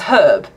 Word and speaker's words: herb: with that yeah okay so is it it's it's herb why put a h in there if you don't want us to say it kin sui thank